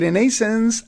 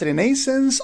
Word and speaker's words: Renaissance: and that is the Renaissance a rebirth of knowledge and culture. So the word may be pronounced as renaissance or renaissance. In British pronunciations we pronounce it as renaissance while in American pronunciation we pronounce it as renaissance.